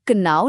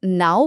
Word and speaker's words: know: पर इसमें क साइलेंट है। हम कनाऊ नहीं बोलते। हम बस नाउ बोलते हैं।